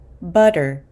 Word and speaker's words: butter: example the word butter I'm not actually saying butter with a t but I as an American I pronounce this as butter butter with a D sound butter because the T sound here is located in between two two vowel sounds uh and R how